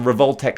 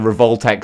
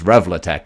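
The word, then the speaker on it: Revoltech: that works with the revoltex style i much preferred it when i mispronounced it as revlatech i think that just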